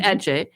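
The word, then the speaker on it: Adze: adje uh which is spelled a d z e but pronounced Edge um you know um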